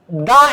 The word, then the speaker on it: the: দেখো তো দি, দি হচ্ছে কখন? যদি এরপরে ভাওয়েল থাকে, যেমন দা অ্যাপল নাকি দি অ্যাপল, এখন উচ্চারণটা আসছে দি অ্যাপল। আবার দা এলিফ্যান্ট নাকি দি এলিফ্যান্ট, এখানে ভাওয়েল আছে, উচ্চারণটা হচ্ছে দি এলিফ্যান্ট।